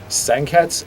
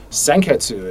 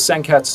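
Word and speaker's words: 鮮血: pronounce the U like senketsu and junketsu, and that is apparently not the correct pronunciation. The U is a very silent U, and so that's one of those challenges where we talked about it.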